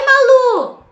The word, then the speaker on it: Malu: Mas, por favor, quando você for falar assim, oi Malu, por favor, oxítona terminada em U não é acentuada. Essa palavra é oxítona, porque a sílaba tônica é a última, terminada em U. Assim como caju, tatu, urubu, nós não acentuamos.